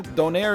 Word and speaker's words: donair: some pronunciation woes there donaire is like it's a canadian it's the canadian pronunciation i think it's its own distinct uh you know sub category subcategory of donor kebab we say donaire so i especially